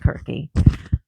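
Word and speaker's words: Circe: He's got one on Cersei Kirke, which is actually pronounced Kirke.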